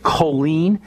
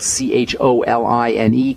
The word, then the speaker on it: choline: is very important for building bile the nutrient choline and that's spelled c h o l i n e choline can help maybe 200 to 500 milligrams